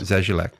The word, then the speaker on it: Zazulak: Zazulak.